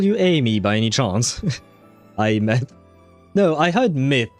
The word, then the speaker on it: Aemeath: Oh, she pronounces it Aemeath. Like an I, like the thing I have right there, and myth, like Mythbusters or something like that. Huh. Aemeath.